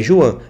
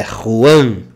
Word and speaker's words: Juan: com j no Brasil Juan Não não é Juan é Ruan vale então vamos lá